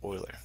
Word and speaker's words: Euler: a file called euler so it looks like euler but it's pronounced euler swiss one of the files that